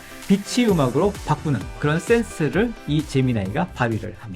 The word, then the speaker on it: Gemini: AI 재미 아이를 선보였습니다 어떤 론에서 재미이고 호칭하기도 하고 또 어떤 기사에선 재미 나이라고 부르기도 하는데 원어 발음이 재미 나이가 맞으니까 앞으로 재미 나이로 부르도록 하겠습니다 이세돌과의 세기적 대결을 통해서